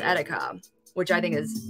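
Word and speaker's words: Erika: Lithuanian pronunciation it's pronounced Attica which I think is like like a rolled R like a tongue tap which I love and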